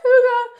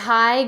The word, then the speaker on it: hygge: little vibe who can find them it's just hygge and it's spelled people think it's pronounced haig it's not it's pronounced hygge and it's a